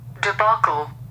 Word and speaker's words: debacle: I have it online here's the UK pronunciation Deb oh no someone said it without the L at the end here's the US pronunciation debacle The debacle of the